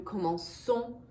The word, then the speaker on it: commençons: So I'm going to add a cédille to this letter C. And that way I've solved my pronunciation problem. Je commence, tu commences, il commence, nous commençons, vous commencez, elle commence.